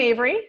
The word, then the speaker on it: Ave: So I am Avery, the Ave of Ave, which rhymes with Dave.